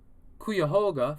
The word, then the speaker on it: Cuyahoga: to own the um digital kitchen um in cuyahoga falls ohio that's right i said it right